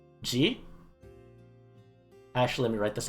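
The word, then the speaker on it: 時: For example, a different reading for time would be ji. Actually, let me write this out here just so it's here. Toki.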